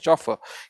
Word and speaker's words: chauffeur: Driver का जो real जो ड्राइवर की जगह अगर हम बहुत अच्छा वर्ड यूज करना चाहें उनके लिए, दैट इज चॉफर।